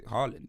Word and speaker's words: Haaland: heard him say, well, I just say Haaland. He probably Haaland. said that because he's tired of people mispronouncing his name.